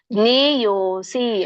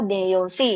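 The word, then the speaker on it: ಜ್ಞೇಯೋಽಸಿ: ದೇಹಸ್ಮಿನ್ ಮಧುಸೂದನ ಪ್ರಯಾಣಕಾಲೇಚ ಕಥಂ ಜ್ಞೇಯೋಸಿ ಅಲ್ಲಿ ಅವಗ್ರಹ ಇದೆ ಜ್ಞೇಯ ಜ್ಞೇಯ ಅಸಿ ಅಂತ ಹೇಳಿ ಕರೀತಾರೆ ಜ್ಞೇಯ ಅಸಿ ಅಥವಾ ಜ್ಞೇಯೋಸಿ ನಿಯತಾತ್ಮ ಬಿಹಿ ಸರಳವಾಗಿದೆ ಎಲ್ಲರಿಗೂ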